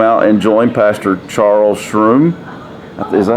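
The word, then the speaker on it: Shrum: invited to come out and join pastor charles shroom is that how you pronounce it s-h-r-u-m from okay uh charles strum and congregation for revival with a different minister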